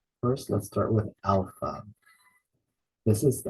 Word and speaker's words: alpha: stress so we say Alpha we put the stress in the first syllable Alpha the next letter